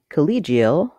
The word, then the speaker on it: collegial: the C syllable College in collegial the second syllable is stressed the letter e says e collegial collegial collegial College